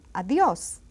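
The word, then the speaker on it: Adiós: And it has an accent on the O. And it's pronounced strongly. Adios.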